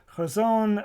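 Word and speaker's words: חזון: This, for example, is not a straight H. It's kind of a guttural H like loch.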